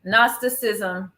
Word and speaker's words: gnosticism: a GN what well the g is silent gnosticism is that human beings